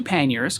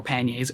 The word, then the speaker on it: panniers: So I take my 2 panniers, or panniers, however you want to pronounce them, it's fine.